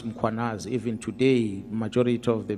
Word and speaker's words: Mkhwanazi: them to pronounce muanaz, they will put an a after m. They will say muanazi and there's no a muanas.